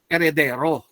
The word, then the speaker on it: heredero: At pangalawa, yan ay paghati-hatiin ng kanyang mga heredero, heirs, ano? H-E-I-R-S, heirs, silent H. Heredero, silent H pa rin.